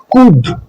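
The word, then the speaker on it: could: कफ लफ rough O यू के बाद आने वाला एल साइलेंट होता है जैसे कुड शुड एच से पहले आने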